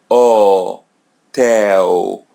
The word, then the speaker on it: hotel: O tell O tell letter H come come in the beginning so it's silent we don't pronounce it letter L comes in the end so pronounce it as W and letter A or